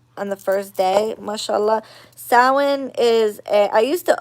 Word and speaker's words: Samhain: the first day mashallah sawin is a i used to always say the i used to say samhain because that's how it's spelt but um it is